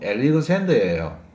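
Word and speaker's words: Alexander: 이번에 유명한 사람은요, 우리가 알렉산드라고 부르는 사람인데요, 정확한 발음은 엘리그젠더예요.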